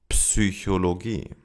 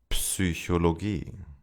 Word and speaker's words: Psychologie: In German, however, we do pronounce those letters at the beginning of words. Psychologie. Psychologie.